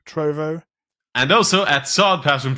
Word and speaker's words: Trovo: pronounced the sightseeing trophy it's like trove but with a no at the end instead of a knee trove trovo and also at sod